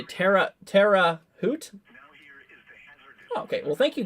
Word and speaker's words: Terre Haute: You say Terre Haute? Oh, okay. Well, thank you guys for fixing my pronunciation here.